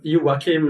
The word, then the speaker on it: Joakim: Joim, is it Jokim or Yokim, by the way? in Swedish. But yim is the Swedish pronunciation.